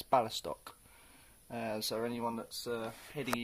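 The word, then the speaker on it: Białystok: say it in polish it's b i a-l-y-s-t-o-k and i think that's ballistock so anyone that's uh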